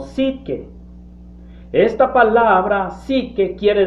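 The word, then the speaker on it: ψυχή: alma en griego hay una palabra que se pronuncia como psique esta palabra sí que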